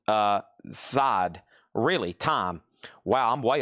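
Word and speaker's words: Zeit: Rammstein is pron is called time. It's pronounced uh side.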